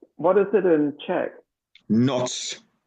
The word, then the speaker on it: Noc: Noc, N-O-C. So generally almost the same as a Russian, only we do not have this hook at the end. So we say noc.